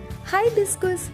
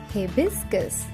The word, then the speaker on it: हिबिस्कस: हाइबिस्कस इसका गलत उच्चारण है। इसे सही से बोलने के लिए इसके 3 भाग करें। पहले बोले ही, फिर बोले बिस, फिर बोले कस। तीनों को मिलाकर बोलिए हिबिस्कस।